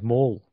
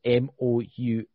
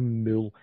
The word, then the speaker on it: Mole: Oh, mine's Mole. So it's Moule. It's no Mule. Everybody keep pronouncing my names. Even when I go to the bank and that, it's always to pronounce my name Mule. But then you got to say the original pronunciation is Mule. So how are we supposed to? Because I like it. Because I like it. I like getting called Mole. I like getting called Mole. That's a that.